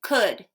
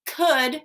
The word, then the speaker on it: could: that l is silent could when we say could would should we do not hear the l at all the l is silent